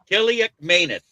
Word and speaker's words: Kaliakmanis: Ethan Kiliakmanis of Rutgers. Kiliakmanis. What? Jeremy? Kiliakmanis? Kaliakmanis.